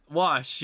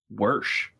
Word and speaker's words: wash: I know it's a Western Pennsylvania thing too to say worsh, but I've never said it.